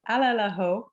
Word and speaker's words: Alalaho: It's probably slightly easier than our name, which people really struggle with. Just for the record, it's Alalaho, in case you hadn't quite caught on to it.